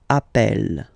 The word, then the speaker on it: appelle: So when you get this e vowel, and then you get a double consonant, and well, they are the same, then it does change the pronunciation of e. You tend to pronounce it like really open. That's the reason why you pronounce it appel.